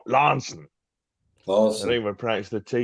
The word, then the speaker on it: Launceston: is called Launceston oh you see we wouldn't pronounce it launch system like that it's it's just in fact if you come from law says Lansing course remember practice the